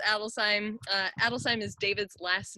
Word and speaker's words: Adelsheim: Adelsheim is David's last name. It translates to noble home or home of nobility. And we like to think of it as two words.